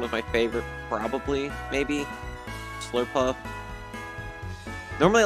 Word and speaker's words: Slurpuff: Swirlix and Slurpuff. I almost pronounce it as Slurpluff almost every time.